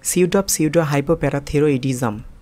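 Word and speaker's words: pseudohypoparathyroidism: Number 3, এখানে যে শব্দটি রয়েছে সেটিও একটি বড় শব্দ, তাই আমি প্রথমে একটু ভেঙে উচ্চারণ করছি, সিউডো হাইপো প্যারাথিরোইডিজম। দেখুন আমি আবার উচ্চারণ করছি, সিউডো হাইপো প্যারাথিরোইডিজম। এবার একটু তাড়াতাড়ি উচ্চারণ করছি, সিউডো হাইপো প্যারাথিরোইডিজম।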